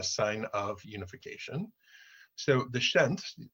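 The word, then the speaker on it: Pschent: So the Shent, the P is silent, the Shent, you see, has the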